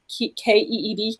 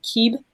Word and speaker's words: Keeb: The pronunciation of this Mayan deck card is called Keb, K-E-E-B, Keeb. It's probably Keeb.